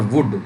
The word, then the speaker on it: would: और वुड, ये भी वुल्ड नहीं होता है, वुड होता है, WOULD, वुड। इसमें भी एल क्या होता है, साइलेंट होता है।